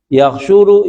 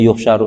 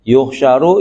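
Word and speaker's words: يحشر: Yaksyuru yaumalqiamati. Ya mestinya sih ini dia bacanya yuksaru nih ya. yuhsyaru yaumalqiamati digiring ya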